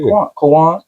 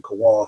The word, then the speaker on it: K'wan: tell you when you say Quan, like you just said Kawan fast. That's how I say it.